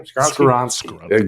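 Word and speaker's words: Skoronski: I was surprised to see Darnell Wright go at 10, and Peter Skronsky, or how does he say his name? Skronsky.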